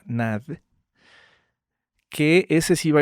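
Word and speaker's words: Nagy: más light imre nad se escribe nai ng se pronuncia nad que ese sí va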